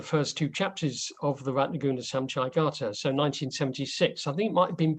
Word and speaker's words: Ratnaguna: So it's Ratnaguna, short U.